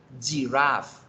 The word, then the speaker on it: giraffe: Jirafa se pronuncia giraffe, giraffe, etc.